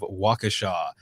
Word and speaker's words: Waukesha: fuzz out of florida and katie out of waukesha see i said it right make sure to